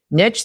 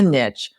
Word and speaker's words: niche: have different niche than they do, you can refer clients to each other too.